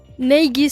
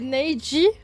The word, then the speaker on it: Naegi: Neigi, ça se prononce. Ah ouais? J'étais persuadée que c'était Neiji et pas Neigi. Ok.